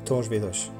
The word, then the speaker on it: Torres Vedras: En portugais ça se prononce Tor Vedrch.